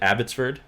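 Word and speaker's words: Abbotsford: about your hometown how do you do you pronounce it abbottford yeah that's perfect yeah good uh how long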